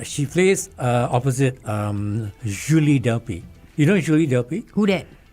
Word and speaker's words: Julie Delpy: So I should say Julie Delp. Julie. Julie. Delp. I love the French pronunciation of Julie.